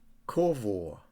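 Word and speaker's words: קָוָה: the Hebrew it's a Hebrew word that is pronounced corvo and it has other meanings apart from patiently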